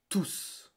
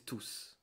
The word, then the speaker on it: tous: But when I use it as a pronoun, I pronounce it like tous. Okay? So this is tout and this is tous.